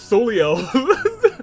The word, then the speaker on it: Soleil: I should have read it as Soleil, pronounced Soleil, thank you.